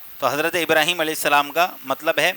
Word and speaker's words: ابراہیم: ساتھ پڑھا جاتا رہا۔ ابراہیم یہ جو ہے سب سے درست نام ہے اور سب سے درست تلفظ ہے کہ قرآن پاک کے اندر بھی یہی تلفظ آیا ہے ابراہیم علیہ السلام